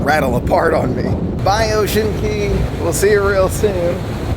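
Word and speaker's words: Ocean Cay: Usually, they go to Ocean Key twice. She called it Ocean K, so I may have been saying it wrong the whole day.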